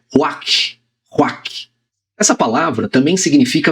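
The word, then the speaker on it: רוח: Mas é ruach, ruach.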